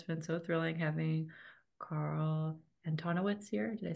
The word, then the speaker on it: Carl Antonowicz: It's been so thrilling having Carl Antonowicz here.